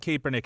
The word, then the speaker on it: Kaepernick: off of it you you said kaepernick every time that's that's how you say it man you know he's